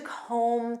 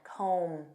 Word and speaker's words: comb: what this means to comb through and notice that b is silent comb comb through this means